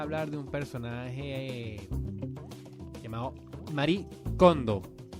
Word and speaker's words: Marie Kondo: Y tenemos en línea a Katiuska Silva, periodista, quien nos va a hablar de un personaje llamado Marie Kondo. ¿Se pronuncia así, Katy? Sí, Marie Kondo, así es.